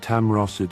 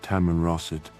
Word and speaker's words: Tamanrasset: Not only did the fake passport state no such thing, but Tam Rossett appears to be a clear mispronunciation of Tamanrasset, which is not a fictional city, but a very real province in the southern region of Algeria.